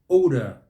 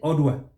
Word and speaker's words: odor: Stress is on the second syllable, and then you'll get it right. Necessitated. Necessitated. How about this one? Odor. Odor. Odor. Yeah? Here, what do we say? Odor.